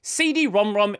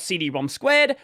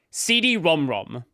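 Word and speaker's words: CD-ROM²: And yes, CD-ROM-ROM is the official pronunciation. Not CD-ROM-Squared. Not CD-ROM-2. CD-ROM-ROM.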